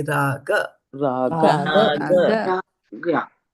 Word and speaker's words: राग: Raga. Raga. Raga. You notice the mouth? Raga. Ra and ga. Raga. So how the shape of the mouth is different?